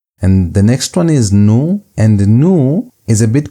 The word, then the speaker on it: nu: And the next one is new. And new is a bit confusing because it looks like the English v, but it's actually equivalent to n.